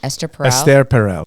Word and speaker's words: Esther Perel: Esther Perel.